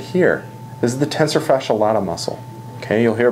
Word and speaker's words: tensor fasciae latae: a little muscle right here this is the tensor fasciae latae muscle okay you'll hear pronounced a couple different ways tensor fasciae latae is right here and the reason they call